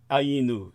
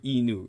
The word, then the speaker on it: Ainu: They've got a name that sounds distressingly similar to anus when mispronounced.